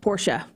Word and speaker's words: Porsche: and he also said to tell you it's pronounced Porsche you're an idiot uh Alicia Sloan says extra